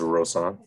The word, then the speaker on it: Rosanna: pronounce your name um it's pronounced rosanna rose on i just want to